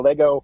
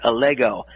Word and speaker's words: Allego: president and co-founder uh you did have the name pronounced correctly it's allego allego uh is actually the Latin word for allegory allegory being a short